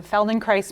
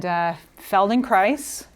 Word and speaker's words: Feldenkrais: So my talk today is called Connecting Through Movement, how the Feldenkrais Method changes the narrative. And Feldenkrais rhymes with ice, okay? So you'll never forget how to say it.